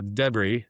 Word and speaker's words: debris: Yeah, so debris. Yeah, he says debris, not debris. Debris. Yeah, Debris, and it's yeah. ah, You're putting the wrong emphasis on the syllable.